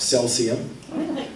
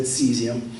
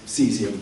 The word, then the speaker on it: cesium: So I heard it pronounced Celsius, cesium, and cesium, kind of like shazam.